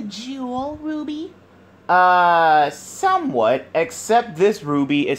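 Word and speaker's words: RWBY: Somewhat, except this Ruby is spelled R-W-B-Y.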